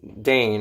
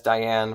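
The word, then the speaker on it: Daine: this girl called Diane I kept pronouncing her name is no actually I'm wrong her name is Dane I kept pronouncing it as Diane for some reason I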